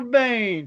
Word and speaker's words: Bayne: His last name rhymes with Kane. It's Trevor Bayne.